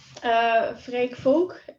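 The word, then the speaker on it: Freek Vonk: would do it ourselves well this is him freight folk is how you pronounce it and he is a professor in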